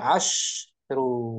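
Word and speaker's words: عشر: Nah, kalau ma'dudnya muzakkar, angka shinnya 10 shinnya itu di fathah. Asya. Asyaratu. Asyaratu gitu bacanya. Asyaratu. Kalau ma'dudnya Kalau mu'annas, asyara. shinnya disukun asyru. Asyru. Asyru. Nah gitu. Asyru. Shinnya mati sukun ya.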